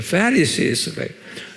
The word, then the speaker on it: Pharisees: 한번 발음해 보세요. Pharisees, 액센트가 Pharisees래요. 예, Scribes and Pharisees 그래요.